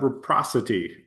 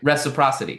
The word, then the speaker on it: reciprocity: So, like John Maxwell, like the law of uh reprocity. Did I say it right? Yeah. Reciprocity. Yeah.